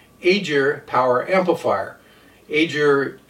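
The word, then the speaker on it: Aegir: Aer is how I'm pronouncing it. It's spelled ae e g i r.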